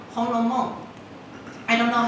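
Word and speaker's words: 红楼梦: It's pronounced Honglomong.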